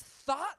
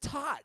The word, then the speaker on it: thought: this for years in I always pronounce it taut no it's not you got that H and s not its thought yeah I did not come up with that silent H so it was just